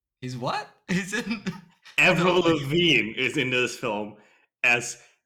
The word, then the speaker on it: Lavigne: Avril Lavigne is in this film as Avril Lavigne, but written Levine. Avril Lavigne? Yeah, like same pronunciation but different spelling.